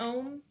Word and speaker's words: Ogham: I had a opportunity to work with the ohm. It's not OM, guys. It's OGHAM. I think it's how they spell it.